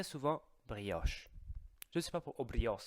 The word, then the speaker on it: brioche: brioche je sais pas brios aussi brios avec de s je sais pas pourquoi mais c'est la prononciation italienne de brioche donc faites attention parce